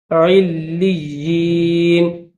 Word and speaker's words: علیین: کتاب الابرار لفی علیین، علیین، عین کے بعد لام کے اوپر بھی تشدید ہے، پھر یا کے اوپر بھی تشدید ہے، تو کیسے ہجے کریں گے، عین لام زیر عل، لام یا زیر لی، یا زیر ی، کیسے، عین لام زیر